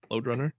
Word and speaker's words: Lode Runner: Runner yeah load Runner that's that's how it's pronounced load Runner okay load Runner now it says here licensed